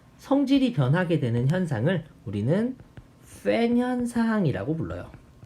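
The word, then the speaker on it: Föhn: 그래서 이 원래의 동일한 바람이 산을 타고 넘어갈 때 성질이 변하게 되는 현상을 우리는 팬 현상이라고 불러요. 팬 현상입니다. 팬. 이 땡땡이 O하고 E의 발음의 중간이래요.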